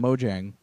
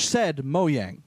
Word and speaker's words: Mojang: moyang until E3 uh you don't pronounce the Jay yeah apparently it's pronounced moang okay um like I always called him Mojang I but I I